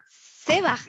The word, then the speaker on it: Sebaj: Vamos a pronunciar, vamos a vamos a pronunciar bien. She Sebaj, así es, Sebaj.